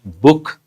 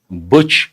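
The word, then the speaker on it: Buch: Actually, it is a German word. You can say Boo, but people may not understand. You can pronounce it as Book, Butch, Bush.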